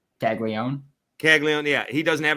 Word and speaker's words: Caglianone: Caglianone.